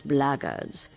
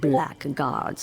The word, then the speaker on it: blackguard: If you're another one of those blackguards, and that's the way to pronounce it, not blackguards like that thug insisted it was, then my answer is the same.